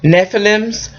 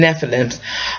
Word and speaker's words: Nephilim: or the word is Nephilim or Nephilim it depends on who you talk to I call them Nephilim um they were giants